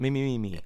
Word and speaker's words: Mimimi: And if I just butchered that pronunciation, is it Mimimi or is it Mimimi?